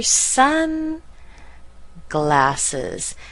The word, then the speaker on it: sunglasses: But sun will be stronger than glasses.